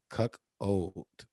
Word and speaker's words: cuckold: Hey, listen, it is cuckold. Like a chicken always sell you cuck. And it's old, so old chicken.